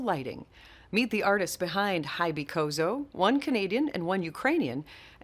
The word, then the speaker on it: HYBYCOZO: So I guess I was pronouncing it wrong. It's HYBYCOZO, not HYBYCOZO.